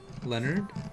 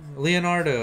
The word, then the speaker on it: Leonardo: For some reason, I was obsessed with calling you, or like, I had the idea in my head of calling you Leonard, but it's Leonardo.